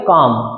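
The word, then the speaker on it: calm: वाला पढ़ते हैं देखिए एल साइलेंट है इसमें तो इसको बोलेंगे काम और काम का मतलब होता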